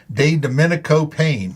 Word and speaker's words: DeDomenico-Payne: examiner studio and with me today is de Dominico Payne very good did I say did I get perfect yeah yeah I butchered the name sometimes you know that's okay